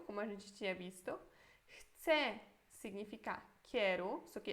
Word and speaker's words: chcę: Chcę significa quero. Isso aqui é eu, tá? Chcę, mas a gente pronuncia como se fosse chcę.